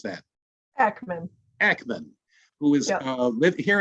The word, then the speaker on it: Akmon: How do I pronounce that? Akmon.